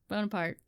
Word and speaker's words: Bonaparte: Bonaparte.